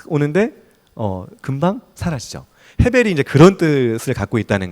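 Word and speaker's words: הֶבֶל: 헤벨. 네, 발음 좋으십니다. 헤벨.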